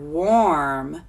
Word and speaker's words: warm: here's that tricky word warm it kind of sounds like an O R but if it wasn't o R it would be worm like worm you see in the ground warm is spelled W